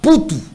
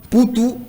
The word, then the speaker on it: Mputu: ça s'écrit avec N, S, I, A, L, A. N, S, I, A, L, A. Poutou, c'est avec M, P, U, T, U. Poutou, M, P, U, T, U.